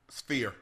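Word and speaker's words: Sphere: Spear.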